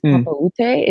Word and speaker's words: Papaoutai: I think it's Papaoutai is how you say it correctly.